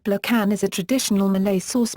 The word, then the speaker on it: belacan: Sambal belokan, pronounced blokan, is a traditional Malay sauce made by frying a mixture of mainly pounded dried chilies and fermented prawn paste.